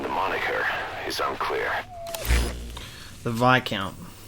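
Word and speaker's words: Viscount: moniker is unclear the vi count it's not not the discount it's not said how it's spelt silent s i've never been ridiculously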